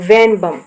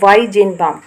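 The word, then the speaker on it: Weizenbaum: इन 1966 eight Massachusetts institute of technology MIT, Joseph वेनबम, इसमें थोड़ा जो नेम है वो स्पेलिंग थोड़ी मिसप्रिंट है, इसका कंप्लीट नाम है वाइजेनबाम।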